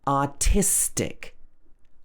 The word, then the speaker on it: artistic: Same in words that end in tick. Stress the syllable before. For example, artistic.